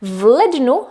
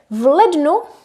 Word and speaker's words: v lednu: So v lednu, read as one word together, v lednu means in January.